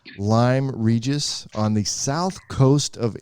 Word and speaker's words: Lyme Regis: yes I can thank you and you did pronounce it correctly it is Lyme Regis so tell me a couple questions where I